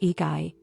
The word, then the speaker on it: ikigai: It's called ikigai. Now don't worry if you've never heard that word before. Ikigai, pronounced eigy, doesn't have a direct